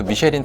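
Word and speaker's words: Michelin: 우리가 알고 있는 그 미쉐린 타이어, 원래는 이제 프랑스식 이제 발음으로 미슐랭이라고 하는 게 맞을 것 같고요.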